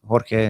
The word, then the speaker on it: Jorge: oh no yeah but we pronounce it George but it's it's Spanish it's Jorge if it's called a